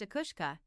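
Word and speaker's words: each-uisge: The ike usage pronounced a kushka is an Irish spirit in the shape of a huge horse.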